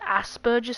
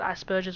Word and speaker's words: Asperger's: think it comes under asperger's syndrome everyone pronounces it differently if everyone calls it ice burgers or aspergers um i call it aspergers because you know i've